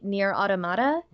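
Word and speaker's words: NieR:Automata: I believe that either way is correct. Okay. For multiple reasons. I personally say Nier Automata, and the reason being because that seems to be how Yoko Taro pronounces it. I mean, granted, different language and all that, but there's that. And then at one point, Pod 153 says it in the game and pronounces it that way.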